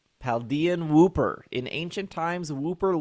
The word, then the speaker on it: Paldean: Paldean. Like Chilean. Paldean. Paldean Wooper.